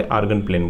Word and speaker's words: Argand: D silent है वहाँ पे, आर्गन प्लेन बोलते हैं उसको।